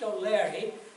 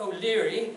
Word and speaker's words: O'Leary: And it's pronounced O'Leary, which is the correct Irish pronunciation, not O'Leary, as sometimes the CBC newcomers to the province call it. It's O'Leary according to the traditional Irish pronunciation.